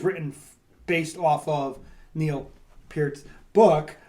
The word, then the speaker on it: Peart: And especially Neil Peart.